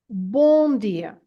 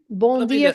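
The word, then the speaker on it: Bom dia: at the end and this m at the end is not to be pronounced as a m sound as an M sound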